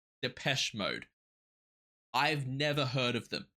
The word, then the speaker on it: Depeche Mode: is wrong here but Google says that the name is pronounced depes mode I've never heard of